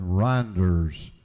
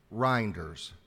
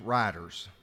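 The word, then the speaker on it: Rynders: my name is reinders r-y-n-d-e-r-s and I've heard it pronounce writers and renders and it's been misspelled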